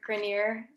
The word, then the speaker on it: Grenier: I Can't Let Go of Sentences by Robert Grenier. I hope I'm pronouncing that correctly. Yes, I Grenier.